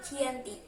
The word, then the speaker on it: Giyanti: 13 Februari 1755 nama Dianti diambil dari lokasi penandatanganan perjanjian yakni di desa Janti dalam pelafalan Belanda Ia juga sebut dengan jianti dan secara tertulis ia terbaca sebagai Gianti tempat tersebut dikenal dengan